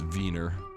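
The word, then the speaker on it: Wiener: Philharmonic I call them Weiner coins because right there it says in English that's pronounced Weiner but in Austrian it's veena like the schnitzel type and then we got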